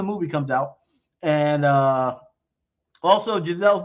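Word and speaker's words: Geiszel: And also, Giselle's name is spelled G-E-I-S-Z-E-L. All right? All right. She's not French.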